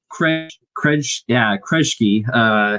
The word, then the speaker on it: Kresge: Kresge. It very much sounds like Kresge from season 3, but if you watch